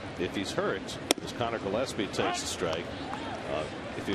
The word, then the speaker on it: Gillespie: last night mispronouncing Connor Gillespie's name. It looks like Gillespie. Yes. But it's Gillespie. You got to think Dizzy.